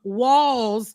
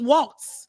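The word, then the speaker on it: Walz: those names right that I thought pronouncing um walls was Walts because I've been trying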